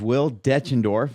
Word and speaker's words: Will Deutschendorf: His name is Will Deutschendorf.